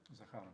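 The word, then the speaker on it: Zakharova: states and Maria Zarakova Zar how do you pronounce it again? Zakara, Zakara, sorry.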